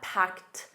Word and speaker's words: packed: And notice that packed a soft t at the end.